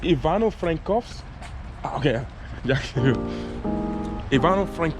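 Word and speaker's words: Ivano-Frankivsk: name of this city excuse me it's Yvonne Oh Frank coughs okay yeah a barn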